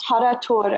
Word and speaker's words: tarator: It's called tarator, and I'm sorry if I pronounced this wrong. It's No, called that's right.